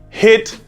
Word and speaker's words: HIIT: right what's up guys let's talk about hit training now hit stands for it's spelled HIIT it stands for high-intensity interval training now about probably about